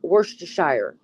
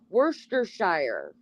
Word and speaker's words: Worcestershire: Oh, I love hearing Americans say Worcestershire. Yeah, Worcestershire sauce. What do you say? Worcester sauce, we say. Worcestershire.